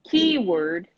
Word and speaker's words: keyword: of the word key key word yes keyword keyword not K naught K word key word the stress is on the first syllable keyword keyword keyword keyword